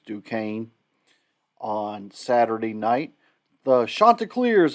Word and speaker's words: Duquesne: horn frogs who host how i used to pronounce them deaconess actually it's duquesne on saturday night the